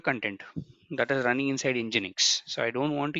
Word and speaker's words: nginx: you what is nginx it's telling engine X the pronunciation is this one it's a HTTP reverse